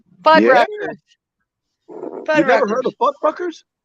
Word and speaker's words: Fuddruckers: Okay, I know I'm saying it wrong, but I'm saying it wrong for a reason. Have you ever had a burger at Budfuckers? Yeah, they used to be right here, based in Atlanta. What? Okay. Fuddruckers.